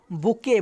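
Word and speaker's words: bouquet: पहला है मेरे पास, पहला ऑप्शन है बुके। बुके का मतलब होता है, यहाँ पे टी साइलेंट होगा, बुके का मतलब गुलदस्ता होता है, गुलदस्ता की बात नहीं हो रहा है, इसे आप काट दीजिए।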